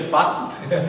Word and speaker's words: facto: As pessoas tomam isto, tratam disto com uma tão grande ligeireza que naturalmente nem reparam que a palavra facto, o C não é mudo.